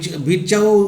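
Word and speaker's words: Virchow: রাডলফ ভিরকাউ। ভিরচাও উচ্চারণ করো, ভিরকাউ উচ্চারণ করতে পারো।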